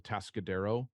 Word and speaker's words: Atascadero: I grew up in central coast of California, and in a city called Atascadero. Most people can't Oh, pronounce that when you just see it read off.